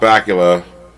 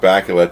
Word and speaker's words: Bakula: I really want Scott Bakula to play Dracula Scott Bakula for sure I mean come on it's the only name that rhymes with Dracula why isn't nobody it